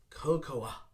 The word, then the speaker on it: cocoa: cocoa but we don't we ignore the a sound and simply put coco i like to put